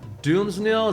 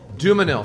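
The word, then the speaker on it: Dumesnil: Nathan Doomsnil, is that how you pronounce it, Taryn? Dumanil. Thank you, Taryn.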